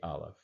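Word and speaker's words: אלף: And of course, the aleph is silent. It had I've seen, again, we don't know for sure the sound of the aleph, but in biblical times, it was considered to be a glottal stop.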